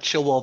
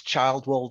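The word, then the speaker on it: Childwall: And a place like Chilwell Valley Road. It's Childwell Valley Road, but it should be Childwell.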